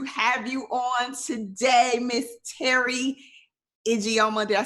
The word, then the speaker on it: Teri Ijeoma: super excited to have you on today, Miss Teri Ijeoma.